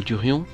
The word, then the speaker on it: durian: En découvrant cette loi et en ne connaissant pas le durian, j'ai fait quelques petites recherches. Le durian, prononcé durian ou durion, durier, Durios zibetinus, muret,